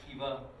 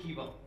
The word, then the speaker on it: Kiva: A lot of you are familiar with Kiva, or Kiva, and she'll tell us how to pronounce it properly. Got it, Kiva. Kiva. Make it your own. Say it however you wish.